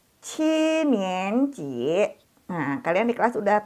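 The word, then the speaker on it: 七年级: Dibacanya Qinianji.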